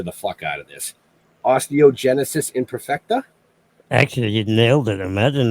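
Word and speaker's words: Osteogenesis imperfecta: And I'm going to butcher the fuck out of this. Osteogenisis Imperfecta?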